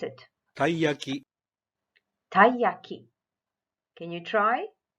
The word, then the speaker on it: taiyaki: oh it looks like this how do we pronounce it taiyaki hi Jackie can you try taiyaki alright what about the next one while whole